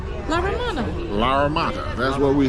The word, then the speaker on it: La Romana: La Romana. La Romana.